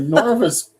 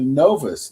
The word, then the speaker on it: Novus: Anyway, the Norvous the Novas, not Norvous. I'm pronouncing it wrong.